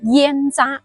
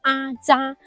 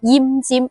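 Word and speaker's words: 腌臢: 咁呢兩個字，嗱，普通話容易將佢誤讀成煙渣，嗱，其實係讀阿渣，粵語係讀奄尖。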